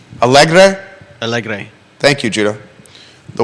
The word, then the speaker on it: Porto Alegre: I would say Porto Alegre. Alegre?